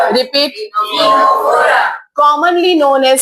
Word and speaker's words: Ctenophora: next phylum that is C silent टीनोफोरा क्या है repeat टीनोफोरा commonly known S सी